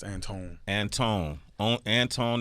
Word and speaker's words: Antoine: I've been calling you Antoine yeah it's it's spelled Antoine but it's Anton Anton on Anton X